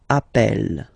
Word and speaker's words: appelle: That's the reason why you pronounce it appel, okay? Appel, and appel.